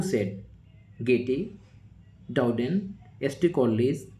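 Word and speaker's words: Goethe: Of Shakespeare who said Getty done ST कोस बें Johnson हमारा जो राइट आंसर हो जाएगा राइट आंसर गेट बहुत सारे एस्पेरेंट इसे गोथे नाम देते हैं बट एक्चुअल प्रोनाउंसिएशन गेटे है।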